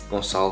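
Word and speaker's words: Gonçalo: previously was my name which is pronounced console by the way and the reason why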